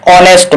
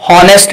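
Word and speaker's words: honest: धारो के एन अवर एमां H silent एने हवर न बोलाय, एन ऑनेस्ट मैन एमां एच साइलेंट फरीथी एने होनेस्ट ना बोलाय ऑनेस्ट बोलाय।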